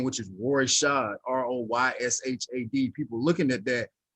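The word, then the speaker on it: Royshad: know people looking at my name which is roy shaw r-o-y-s-h-a-d people looking at that i guess it was difficult for them to pronounce so they was mispronouncing it and i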